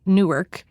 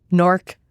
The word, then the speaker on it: Newark: We're Jersey Transplants, so locals have to forgive me if I say Newark. I'm still training myself to say it like the locals do. Norc, one syllable.